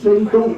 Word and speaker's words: Shandong: Alors, la gastronomie, elle se prononce comment? Le nom de la gastronomie, San? Le nom en chinois, San Shandong, c'est ça?